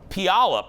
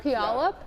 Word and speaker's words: Puyallup: We're from Puyallup, Washington. Please try to say our city name live. It's hard to pronounce correctly. What is it again, Jeff? Puyallup?